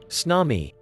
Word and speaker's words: tsunami: a tsunami a tsunami from japanese harbor wave pronounced tsunami is a series of waves in a water